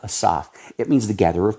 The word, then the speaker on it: Asaph: it's a Rapture term is how they say it we say asaph in in America ASAP Asaf it means The Gatherer